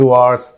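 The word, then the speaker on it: hour: लोग देखिए ये जो एच जो लेटर है ना ये साइलेंट रहता है मतलब इस यह साउंड नहीं करता है कैसे साउंड करता है यह वर्ड आर ठीक है वन आरट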